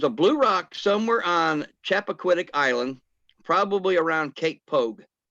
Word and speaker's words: Chappaquiddick: Chippequatic? Chappaquiddick.